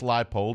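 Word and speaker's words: Leipold: a great coach and nobody can pronounce his name it's Lance lipold and by the way I made the same mistake first time I the first few times I said it till somebody corrected me and I said okay if I'm gonna praise this guy I could at least say his name right Landslide poll Kansas is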